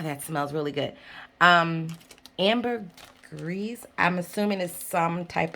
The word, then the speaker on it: ambergris: um and i believe amber greece is french is this french french ambery it's different ways to say this some people pronounce the s some people don't pronounce the s um ambergris some people say so